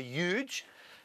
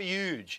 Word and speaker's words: huge: poor humor and it's where an H meets a long u and where that happens the corruption is normally the H sound drops off for the Y um sound that remains in the H and just becomes even more huge it even sounds bigger when you say it like that see maybe this